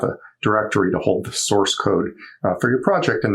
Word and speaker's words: src: this currently empty directory called src which we usually pronounce source and to set up